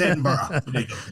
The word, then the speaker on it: Edinburgh: Edinburgh. That's a huge Edinburgh. Like like um like the mule burough. Edinburgh. Oh, you say borrow, don't you? Edinburgh. It's Edinburgh.